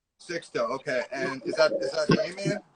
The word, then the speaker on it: Sixto: Am I pronouncing that right? Yeah, Sixto. Yeah, that's right. Sixto.